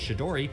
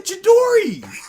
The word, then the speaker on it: Chidori: Absolutely, but you know how to say the Chidori. You can't look at CH and just go, well, obviously SH. Yeah, that's weird. obviously pronounced sh.